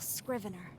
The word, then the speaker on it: scrivener: To wear the mask of a chipper, unflappable scrivener. Scrivener, that's how you pronounce that.